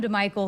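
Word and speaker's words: DiMichele: And then Adam DeMichael, it spelled like DeMichelle, but it's Adam DeMichael, who was a quarterback at Temple.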